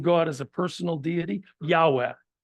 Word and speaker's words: Yahweh: as a personal deity Yahweh Yahweh uh used to be pronounced Jehovah but that was a misunderstanding of the text so you know that